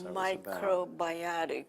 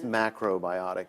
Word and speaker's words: macrobiotic: bit of a health scare when I guess microbiotic it's macrobiotic it's uh the Japanese it's a Japanese um